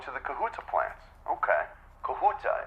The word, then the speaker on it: Kahuta: the kahuta plant okay kahuta is that uh the correct pronunciation am I saying that right yes okay great okay pz